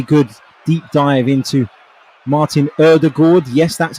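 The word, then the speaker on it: Ødegaard: dropped today really good deep dive into martin erdegord yes that's how you say it we discussed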